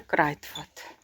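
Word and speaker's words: Kruidvat: Це Крайтфат. Крайфат. До речі, в нідерландській мові наголос на перші склади в основному.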